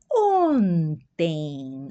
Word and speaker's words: ontem: Eu comecei a trabalhar ontem. Observa aqui a pronúncia, ó. Ontem as nasalizações que tem o o N, né?